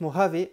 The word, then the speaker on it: Mojave: os mort avait alors même si c'est un gie on prononce mort avait en appuyant sur le h vous l'aurez donc compris